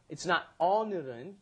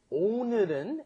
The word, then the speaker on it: 오늘은: It's not 오늘은. You cannot do all. It has to be 오. 오늘은, and then 늘 is a little difficult to pronounce too because there's no in English.